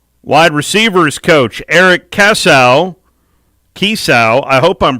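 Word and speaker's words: Kiesau: staff a former wide receivers coach eric cassow kisau i hope i'm pronouncing that right it's key a k i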